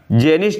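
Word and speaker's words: Tjen: Janice जेन, देखो यहाँ पे इसे मैंने ट्रांसलेट किया था गूगल से, तो टीजन लिखा हुआ आया, लेकिन टी साइलेंट होता है।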